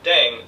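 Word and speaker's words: 땡: playing with language now the pronunciation of Deng is similar to thing which is the slang of thing in English last but not least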